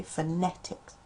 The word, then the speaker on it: phonetics: it says o phone but fetics you say phonetics Uh you I struggled a little bit more with you.